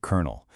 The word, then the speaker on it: colonel: First, we have colonel. You'd think you say the L and the O's, right? Nope. It's pronounced exactly like colonel.